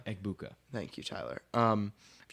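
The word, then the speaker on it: Egbuka: And if you put a Mechabuka next to I said it wrong, Ebuka.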